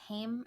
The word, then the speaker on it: Haim: or less famous friends, like Haim. Is that how you pronounce it? Haim, the three sisters that are in that band.